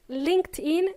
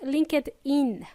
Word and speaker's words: LinkedIn: By the way, it's pronounced LinkedIn, not LinkedIn.